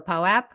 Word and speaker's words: POAP: I'll just say I'm really happy we're in the POAP era where we no longer have to ask if it's pronounced Pope or POAP.